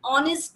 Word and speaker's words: honest: In the above given example, though our first letter H is a consonant, but while pronouncing these words, H is silent.